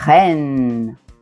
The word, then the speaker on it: reine: S'il est suivi d'une voyelle, vous allez prononcer. reine reine pleine pleine Mais si c'est